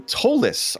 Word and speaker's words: Tolis: Tony Tolis, I'm told is the way it's pronounced his name, in 9th, and Eugenio Massa rounds out our top 10.